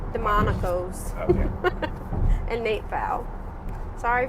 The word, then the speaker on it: Demonakos: The Silence of Our Friends by Mark Long and Jim I want to say Demonakos. Like I want to separate Demonakos? it. It's Say like it really fast. Demonakos.